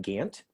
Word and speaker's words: Gant: by the way um you can pronounce my last name gant can't okay either way is fine but but you can't